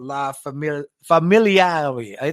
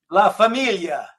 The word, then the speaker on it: La familia: So you talk about them in the book specifically in the chapter entitled La Famil Familiar. How do you say it correctly? La familia.